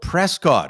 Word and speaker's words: Prescott: a place that you guys mysteriously call Prescot it's spelled Prescott I don't know what's wrong with you it's